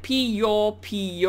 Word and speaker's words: Piopio: how to actually pronounce Pio Pio so it's pronounced like pee your pee or um may be